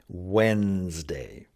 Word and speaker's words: Wednesday: I think the reason they have trouble is because of the way that it's spelled. People will look at it and they'll want to try and say it the way it looks.